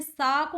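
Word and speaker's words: sake: देखो इसमें सा को हम प्रोनाउंस करेंगे फा की तरह, जैसे फादर करते हैं तो सा, और के को हम प्रोनाउंस करेंगे वे की तरह, तो सा के।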